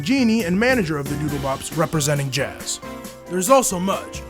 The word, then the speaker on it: Doodlebops: The blanket hops? No, the Doodlebops.